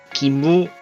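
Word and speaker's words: 義務: 그래서 이 의무랑 의리를 이제 일본어로는 기무, 길이라고 읽는데 이제 이 기무, 길이를 행하는 방식 중에 하나일 수 있다는 거야.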